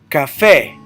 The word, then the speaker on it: café: Café. Keep in mind, whenever you have a vowel at the end like café and you stress that last syllable, you always put an accent mark.